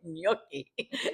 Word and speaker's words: gnocchi: In Italian we say gnocchi, and so we always teased her about that.